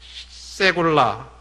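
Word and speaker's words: סגולה: 그 다음에 이 특별한 소유라고 하는 그 단어가 이 히브리어에는 이 세굴라 혹은 뭐 시굴라라고도 하고 세굴라라고 이렇게도 이 발음이 되는데, 이 세굴라 백성, 이스라엘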